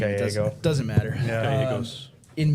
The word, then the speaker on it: Gallego: How are you pronounce his name? Gallego.